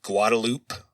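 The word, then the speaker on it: Guadalupe: and a street called Guadaloop. So yeah, these are the official Texas pronunciations of these towns, but at the Lano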